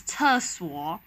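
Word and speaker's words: 厕所: so here it is the word for toilet is tursol where the is the fourth tone and is the third tone and when you want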